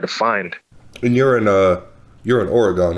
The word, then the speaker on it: Oregon: Oregon. We call it Oregon. Oregon. Okay. Yeah. I was like Oregon. A lot of people say it like that.